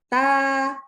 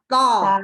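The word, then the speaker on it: ت: Nah, sehingga jadi dua huruf ini istifal dan infitah itu membuat hurufnya ta itu tipis bacanya. Nah, kan bukan to, kan gitu ya, bukan tebal, bukan to, tapi ta, gitu ya.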